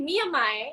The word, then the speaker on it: Miyamae: It's actually Miyamai. It's because it's Japanese, so you have to Miyamai, pronounce it the way Miyamai.